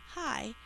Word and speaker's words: hi: He said hi to the group when he arrived. Hi. This is just I. I is saying I at the end of a syllable.